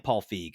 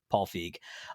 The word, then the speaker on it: Feig: This movie was, let's see, it was directed by Paul, I never know if you pronounce it Feig or Feig. I'm saying Paul Feig. I think that's how you're supposed to do it.